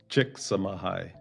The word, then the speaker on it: Chicxulub: Chicxulub. The Chicxulub. Yeah. It sounds almost like saying thank you in Korean. Kamsahamnida. Kamsahamnida. Chicxulub.